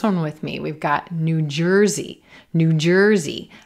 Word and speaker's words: New Jersey: We've got New Jersey, New Jersey. Again, I'm not stressing the word new.